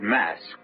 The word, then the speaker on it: masque: The word mask, you should know, is spelled mas quue e and means masquerade.